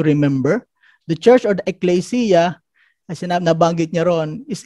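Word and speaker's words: ἐκκλησία: The Greek word po and the pronunciation is the ecclesia.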